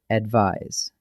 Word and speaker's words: advise: First, advice and advise. Advice with a C, that's a soft S sound, is a noun, a thing you give. Advise with an S, that's a Z sound, is the verb, the action of giving it.